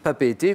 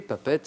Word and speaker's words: Papeete: Je suis Papeete, Papette, hein, les deux prononciations se disent, hein, c'est ça Gwendal, hein?